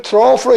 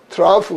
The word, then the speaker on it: trough: 뜻으로 쓰일 적에는 이게 미국에서는 86번호 발음해서 트로프 그래요. 근데 영국서는 이걸 06번호 발음해서 트라프 그런단 말이에요.